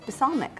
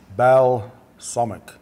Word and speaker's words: balsamic: or you can use a sonic im using the sonic probably not saying that right doesn't sound right of it now okay the L is silent okay Val sumit you're gonna pour this